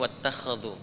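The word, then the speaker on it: وَاتَّخَذُوا: Kalau di riwayat Warash atau Qalun itu dibacanya wattakhadhu. Riwayat Hafiz dari Asim wattakhidhu.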